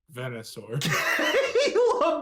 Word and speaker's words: Venusaur: size of an actual pronounce that again Venusaur Venusaur Venusaur Caleb please tell me you're joking right now please tell me you're doing this for a bit please tell me you're mispronouncing it on purpose Venusaur please it's Venusaur I think my favorite